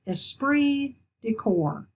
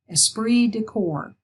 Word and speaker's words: esprit de corps: think we've seen cases of that this is pronounced esprit de corps esprit de corps you hear this in terms of the military a lot but esprit de corps is important to all organizations it's a spirit